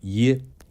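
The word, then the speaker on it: 邪: Aquí, necesito explicar el "Xie" en su nombre. No se pronuncia de la manera común; en este contexto, "Xie" es un apellido especial de una antigua tribu turca , pronunciado "ye".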